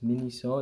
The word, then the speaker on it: Miniso: stuff from that store called mini so I mispronounced it so it's mini so it's a Japanese store they sell whole bunch